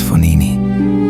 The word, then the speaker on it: Fognini: I'm the great Fognini," said the Italian, pronouncing his name as Fonini.